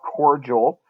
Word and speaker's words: cordial: Next up, we've got cordial. Got kind of an odd pronunciation with the D. The D sound makes a J sound.